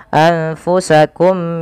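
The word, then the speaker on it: أنفسكم: Cara membacanya tadi memasukkan mim pertama kepada mim kedua dan ditahan suara mnya. Maka anfusak tidak langsung anfusakum min ya tapi ditahan dahulu.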